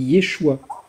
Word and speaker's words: Yeshua: Oui, mais là c'est Yoshua, mais Jésus ça se dit Yeshua.